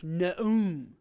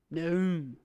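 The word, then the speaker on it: Nahum: Aleph is silent, of course. Na'um. This is an important one. It means prophecy. Or revelation. Being named after an Old Testament prophet, I like this one. Na'um.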